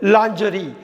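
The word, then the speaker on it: lingerie: லாஞ்சரி. அது வந்து லாஞ்சரி, LINGERI, லாஞ்சரி. லிஞ்சரின்னு படிக்கக்கூடாது, லாஞ்சரி. இது விமனோட அண்டர்வேர். விமனோட அண்டர்வேர் அந்த கிளாத்தை வந்து லாஞ்சரி அப்படிம்பாங்க. LANGERI, லிஞ்சரின்னு படிக்கக்கூடாது. அடுத்து நம்ம பார்க்க போகிறது ரொம்ப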